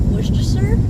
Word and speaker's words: Worcestershire: So, just like Worcestershire. No, it's not Shire and Castor.